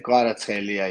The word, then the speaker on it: Kvaratskhelia: Yeah, but it's not difficult to pronounce. Just you have to like a little bit split between like a Kvara and Schelia. So and then it's easy. Schelia, Kvaratskhelia, yes, and yeah, phenomenal kid, phenomenal talent.